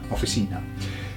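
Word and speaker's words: oficina: Just got an ena on the end. Offtheina. Officina. Next one.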